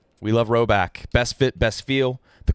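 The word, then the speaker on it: Rhoback: to spring get ready for the spring with roback what's up guys oh yeah good address Friday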